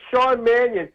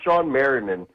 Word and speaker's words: Shawn Manion: I heard someone call him Shawn Marinman.